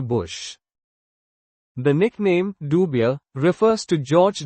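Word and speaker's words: Dubya: It originated from the Southern American pronunciation of his middle initial, W, differentiating him from his father, George H. W. Bush.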